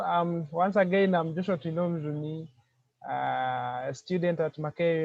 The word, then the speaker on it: Twinomujuni: all i would like to appreciate how you pronounced my name joshua trinom juni so i like it the way you said it so um once again i'm joshua tilnum juni uh a student at maker university pursuing bachelor